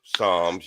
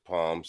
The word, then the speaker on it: Psalms: Palms, Psalms. Y'all call it Psalms, but it's Palms, Psalms, because the P is not I pronounced. probably I probably have read it, but this is I'll I, post it I in.